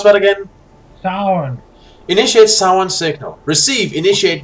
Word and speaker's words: Samhain: Transmit, initiate Samhain How was it you pronounce that again? Sound.